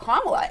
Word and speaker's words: Kamala: Are you saying Kamala or are you saying Kamala? I say Kamala because I don't see any point in deliberately mispronouncing her name.